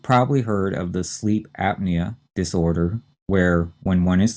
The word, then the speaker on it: apnea: heard of before and here the stress is on the first syllable and we strongly say the p and this is apnea a-p-n-e-a and based on